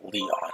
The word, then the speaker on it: Lion: It's written as, but it's pronounced Leon.